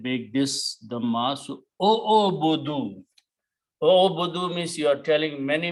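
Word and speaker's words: اعبدوا: If you're telling many people, all of you worship, then you add a wow and an alif, which is not pronounced, it's written only. And you put a sukoon here and make this dhamma. So, O'obudu. O'obudu means you are telling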